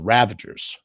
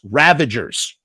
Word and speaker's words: Ravagers: right the ravagers it's it's easy to mispronounce that name I feel like you have to really look at it what is ravagers ravagers not ravage ravagers ravagers okay let's bring him out